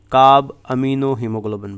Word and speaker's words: carbaminohaemoglobin: And this complex is pronounced as carb amino हीमोग्लोबिन, ठीक है।